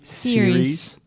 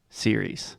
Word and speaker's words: series: first the word series say that with me series nice a lot of our students have the tendency to say something like cus because we have the IE at the end but the correct pronunciation is simply series yes and then second point is just to